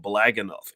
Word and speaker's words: Blaggenuf: It's called Blag Enough, and that's spelled on the screen.